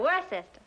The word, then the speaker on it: Worcester: Well, Freddie calls it something else too, Doc. But it's spelled W-O-R-C-E-S-T-E-R. Worcester.